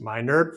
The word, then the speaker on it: Meinerd: name is dr matt meinerd pronounced my nerd for a reason and